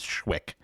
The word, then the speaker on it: Schwick: to be pretty good, which is the apparent intended pronunciation of that name is Schwick.